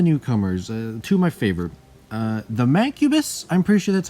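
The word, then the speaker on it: Mancubus: two of the newcomers to my favor the mang cubis I'm pretty sure that's how you pronounce it and I love him just because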